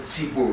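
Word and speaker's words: ציבור: We pronounce it tzibur.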